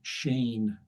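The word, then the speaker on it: Schoen: But then he encountered the work of Eugene Shane. Uh that's how that name is pronounced.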